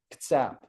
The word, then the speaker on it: Kitsap: in the 1870s, 1880s, he said that Kitsap was pronounced as if there was no I. It'd be like a small K apostrophe T and then emphasis on the second syllable. So Kitsap.